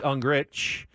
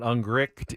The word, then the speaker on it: Ungricht: I'm kind of spun out now because I believe he said, no, it's Ungrich, not Ungricht, even though there's a T at the end. T is silent at the end.